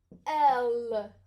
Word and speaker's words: elle: We have il, I, L, and we have elle, okay? Like Danielle, Michelle, elle, okay? Ella, it looks like.